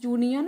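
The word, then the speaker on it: union: Dash यूनियन of leaders. यहां पे भी यू साउंड कर रहा है ना?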